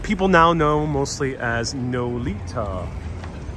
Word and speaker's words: Nolita: So this way, after Broome, is what people now know mostly as Nolita. Spelled like Lolita, north of Little Italy.